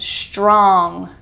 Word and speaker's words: strong: Next up, we have the N-G sound, as in strong, strong. It kind of just makes a It's not an ng. No, it's just in the back of your throat. The way I pronounce it is the back of my tongue kind of goes up to the back of the roof of my mouth. Strong.